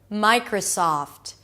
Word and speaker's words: Microsoft: Microsoft. Again, 3 syllables. The first syllable is my, as in my company. My. Then the next syllable is cr. Connect the k sound and the R. Cr. Round your lips and pull the tongue in so it doesn't touch anything. So it's not kra.